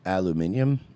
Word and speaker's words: aluminium: Dayton, it's pronounced aluminium.